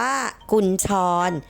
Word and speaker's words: กุญชร: คำ นาม เช่น กัน นะ คะ อ่าน ว่า กุญชร หมาย ถึง ชื่อ สัตว์ เลี้ยง ลูก ด้วย นม